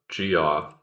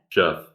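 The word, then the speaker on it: Gef: No, there's no O in it. It's not Geoff. It's Jeff.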